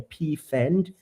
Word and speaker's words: Pfand: what we call a Pfand. It's like P with an F A N D. It's like a fund, if you can pronounce it without really, really breaking it down cuz it's a German term.